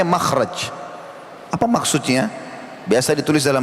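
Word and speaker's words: مخرج: akan ada tulisan mim, kha, ra, jim. Bacanya makhraj.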